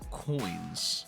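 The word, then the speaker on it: quoins: Now, there's something on here called coins. What the heck is that? But it's not spelled coins, C-O-I-N-S. It's Q-O-I-N-S.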